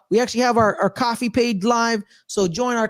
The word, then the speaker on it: Ko-fi: yeah it's coffee I I thought it was Kofi but now it's coffee like you're buy I